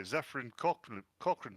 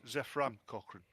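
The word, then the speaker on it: Zefram Cochrane: And this dickhead, in Enterprise, the Vulcans landed as before, only they were attacked by Zephyrin Cochrane, spelt with a Y for some reason. It's Zephram Cochrane.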